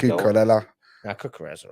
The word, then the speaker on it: Cucurella: Cucurella. Now, Cucurella's all right. Yeah. Rhymes with Estrella. Eats paella.